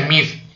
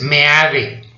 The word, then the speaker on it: Meade: No se pronuncia MIF, es Meade.